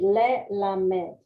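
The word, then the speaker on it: ללמד: Over here it is silent, but over here it is a short E. Okay. So it would be lelamed.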